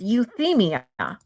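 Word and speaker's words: euthymia: I want to make sure I'm listening or pronouncing it correctly. Euphia. Yep. Hold on. Euthia. So, not I didn't do it. It's euthia.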